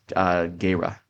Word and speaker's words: Gera: Gira or Jira. Yep. And he was Actually, from. it's pronounced Gera. I looked it Oh, up one time. It's Gera.